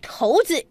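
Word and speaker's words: 骰子: 成友谊，骰子念成头子，一字多音改革不停。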